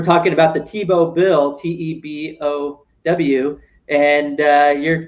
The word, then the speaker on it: Tiebout: It's we're talking about the Tebow bill, TEBOW, and you're kind of referring to Tebow competition, voting with your feet. Right. Spelled the same way, TIEBOUT, the economists from